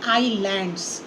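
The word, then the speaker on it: islands: In coastal areas एंड ऑन आइलैंड, ease लैंड लिखते हैं लेकिन इसे प्रोनाउंस करते हैं आईलैंड्स.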